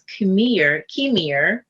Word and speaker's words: Kimir: And people even call me at one particular time because of the K.